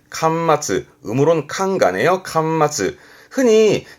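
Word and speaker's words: 巻末: 권말이라 하면 책의 말미에 있는, 책 끝에 있는 발음은 칸마츠. 음으로는 칸가네요. 칸마츠. 흔히 책 끝에 부록이 붙잖아요. 요게 권말 부록이 되겠습니다. 발음은 칸마츠 후로크처럼 책 마지막을 의미하는 권말의 권자가 이 한자가 될 거고요.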